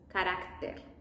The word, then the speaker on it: carácter: In English, it might sound like character, and that's when the tongue is not that curved in the Spanish pronunciation, it's more flat. Character, carácter. And be aware with the T's, always.